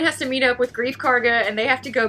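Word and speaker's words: Greef Karga: I keep transposing my C and G. I have no clue because why I want to say Chief Garga, not Grief Karga.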